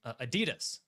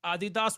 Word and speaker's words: Adidas: because I called we we all collectively called them Adidas and they were like you do not know the name of our company it is pronounced Adidas we do not do